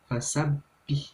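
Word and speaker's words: فسبح: Nah, terus yang ayat ketiga, perhatikan tanda baca tasydidnya di huruf ba dan nun. Itu jadi dibacanya tuh fasabbih, dan ditekan dulu sebanyak 2 ketukan atau 2 harokat.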